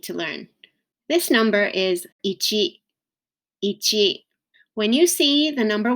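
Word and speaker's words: いち: it becomes itchy so this is the number ichi ichi it can also be pronounced each each where the final sound of e is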